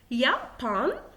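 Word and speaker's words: Japan: يابان، يابان، اخد بالي ان اليوت بتتقرا يابان يعني اليابان.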